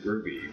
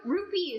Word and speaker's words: rupee: So Charlie and me make fun says I said ruby, but but there's a P. No, it's a P. Well, rupee is is a real it's a real currency. Yeah. Also, it's spelled rupee and then the manual over here.